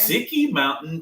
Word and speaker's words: Ski Mountain: Ski Mountain Pizza. Ski Mountain Pizza, yeah. Sicky Mountain Pizza. That's how they pronounce it.